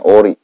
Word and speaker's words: ORI: duit sendiri ya lu namanya ada ori dibacanya ori uang Republik Indonesia Hai Oleh karena itu